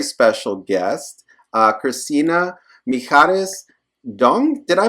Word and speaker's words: Doung: got you got my uh uh first part of my last name right but um Dong Dong that's my yeah I added